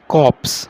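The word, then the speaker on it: corpse: इसकी प्रोनाउंसिएशन क्या होगी, कॉर्प्स नहीं बोलेंगे, आर साइलेंट वे में होगा, कॉप्स, ओके कॉप्स।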